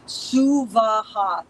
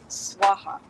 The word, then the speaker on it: Suvaha: But for this homa, Om Bhur Bhuva Suvaha, 3 separate equal syllables, not Om Bhur Bhuva Swaha.